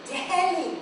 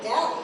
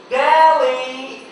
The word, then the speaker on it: Delhi: Billy, that's because you're not pronouncing the H. It's Delhi, not Delhi. Polly, the H is silent. It is pronounced Delhi.